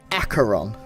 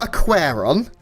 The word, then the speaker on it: Aqueron: housemaid to help me wow and it is acheron acheron it's not aquaron that's what i used to say and it's